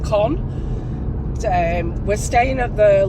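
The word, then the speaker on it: Caen: Some people pronounce it con, some pronounce it KH, some pronounce it con. Uh God knows how you pronounce it. I think it is con um but it's spelled C A E N. Um a friend of mine, Nicola, actually called it Ken, like Kenne pepper.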